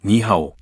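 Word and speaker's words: 你好: 친구들에게 오늘은 중국어를 배워 볼 거라고 했다.이 글자는 안녕이라는 뜻이며 니하오 니호라고 읽는다고 설명했다.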